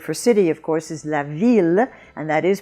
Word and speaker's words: ville: The French word for city, of course, is la ville, and that is pronounced il.